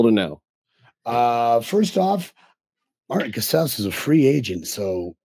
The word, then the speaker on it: Casaus: And it is pronounced Casaus. Like house.